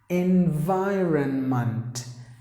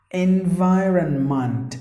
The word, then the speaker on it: environment: entrepreneur next one environment please don't say that it's e the first letter should be pronounced like e environment environment anywhere that is with the letter meid you have to pronounce the last part as month not mend so environment your surroundings so